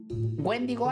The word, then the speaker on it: Wendigo: Wendigo, así se pronuncia.